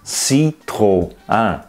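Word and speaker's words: Citroën: But in some other languages, such as French, the two dots are there to show that two vowels are pronounced separately. So this word is citron.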